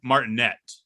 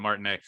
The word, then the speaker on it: Martinet: he pronounces it charles martinette it has a t at the end but i think he pronounces it martin a he's been the voice